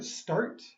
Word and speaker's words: start: Yeah, your T here, start, Start. is one syllable. Don't do start.